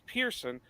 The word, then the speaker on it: Pearson: But um when I tell people how it, you know, how we pronounce it, it's Pearson. They always want to spell it P I E R S O N.